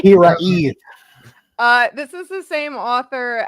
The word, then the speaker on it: Hiraeth: I think every time I say it, it's High Wraith, but I don't think that's right. Hiraeth.